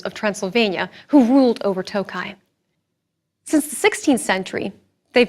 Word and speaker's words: Tokaj: It's pronounced Tokaj, not Tokaji. These beautiful wines are from the region of Tokaj, with no I at the end, but pronounced in the same way.